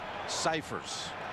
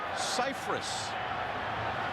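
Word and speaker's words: Scifres: This man Mike Ciphers.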